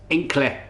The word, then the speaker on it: Hinckley: village called Hinckley and in the native tongue Hinckley's pronounced in click yeah because I can't pronounce that h's or the whys and